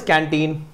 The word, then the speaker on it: canteen: so there we are the word is canteen and uh these the the second syllable is stress let me you know